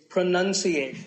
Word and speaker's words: pronunciation: Well, we say pronounce, pronounced, and pronouncing, but pronunciation. There's no noun in this word. It's pronunciation.